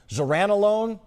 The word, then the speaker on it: zuranolone: Alice, I'm going to need help pronouncing this, right? So the medication is called zuranolone? That's right, yes. Okay, so how is that different from other drugs that are already available? Yeah, so zuranolone varies from traditional antidepressants in two big ways.